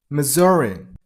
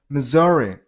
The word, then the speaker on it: Missouri: next number 25 Missouri this is turns into sound so Missouri stress on the middle syllable I mean on z sound Missouri.